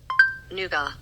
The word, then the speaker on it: Nougat: Nuga. A candy made from sugar or honey, nuts, and egg white. European pronunciation for the win.